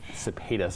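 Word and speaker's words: Sepetys: Cepetis. I was wondering how we pronounce it.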